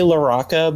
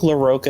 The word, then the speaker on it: LaRocca: that larocca larocha yeah so um i say loraca but i think larocca is perfectly acceptable too i know like a